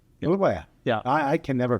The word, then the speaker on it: Bulawayo: So cities, Medellin, what, are you from Harare or from Bulawayo or from a village someplace?